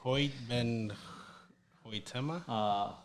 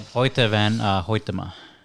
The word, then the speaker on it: Hoyte van Hoytema: Hoyt Ben Hoytema. Yeah, we butchered that name. Hoyte van Hoytema.